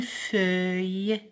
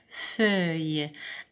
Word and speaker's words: feuille: Un rail, une feuille, E-U-I-L-L-E se prononce œil. Je répète, une feuille.